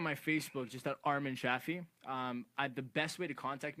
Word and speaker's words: Shafee: So Shafee like taffy.